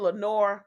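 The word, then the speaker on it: Laenor: like a red bottom Leonard Leonard Valerian that's his name Leonard Leonard yeah I mean it's spelled l a e n o r Leonard Lenore Lenore Lenore Valerian yeah we gonna call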